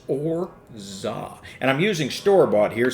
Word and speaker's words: orgeat: Yes, it looks like orgit, but it's pronounced orzah.